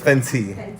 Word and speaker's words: Fenty: Damn, we even saying it wrong. Fendi. Fendi's a whole other brand. Isn't Fendi the car brand? No. So I've been saying it wrong. So it's Fenty.